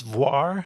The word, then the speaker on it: Voir: would you pronounce that I think it's voir like Noir Noir it was video essays